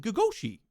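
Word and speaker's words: gogoși: It's pronounced Oh, I was saying it. Gagoshi.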